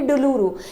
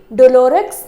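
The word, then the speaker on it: douloureux: वैसे इसको आप कैसे प्रोनाउंस करेंगे? डुलूरू। बिकॉज़ ये क्या है? एक फ्रेंच नेम है। टिक डुलोरक्स नहीं बोलते। इसको डुलूरू बोलते हैं।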